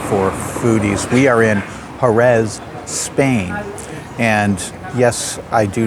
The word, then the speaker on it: Jerez: We are in Jerez, Spain. And yes, I do know that it's pronounced Jerez in Spanish, but I'm going to give you the English pronunciation simply because it's easier for my tongue.